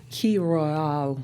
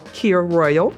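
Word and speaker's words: Kir Royale: And I believe it was pronounced a key royale um which um in regular people speak is a K royal.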